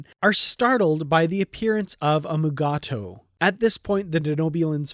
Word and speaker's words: Mugato: pronouncing the name and the name does change from scene to scene from mugato to magutu as you watch this episode you'll notice that various characters pronounce it differently each time it is said in this scene